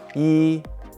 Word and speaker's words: 衣: similarities with the ancient character this character is pronounced e and it means clothes when combined with another